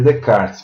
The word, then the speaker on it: Descartes: Então, Descartes, se escreve Descartes, e se lê Descartes.